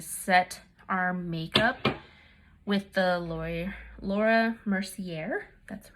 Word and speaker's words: Laura Mercier: we're going to set our makeup with the laura mercier that's how it's pronounced setting powder and now she has a